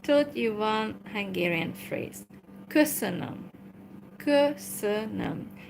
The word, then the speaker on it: köszönöm: Okay, so I have taught you one Hungarian phrase, köszönöm, köszönöm. But we say it like, it's one word, so köszönöm, thank you.